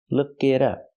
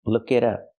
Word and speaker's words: look it up: The T is a fast D. Look it up. Look it up.